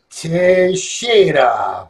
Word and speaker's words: Teixeira: And this is Teixeira.